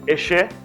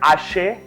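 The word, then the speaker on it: ẹ ṣé: People say eshe, right? Correct? But that eshe has different version. You go to Abekuta side, they'll say ashe. And then some people have shorted, instead of saying eshe, E-S-H-E-Y, they'll just say esse.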